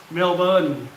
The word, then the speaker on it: Melbourne: melbourne but it's spelt differently right so it's pronounced melba but in thailand all the city i mean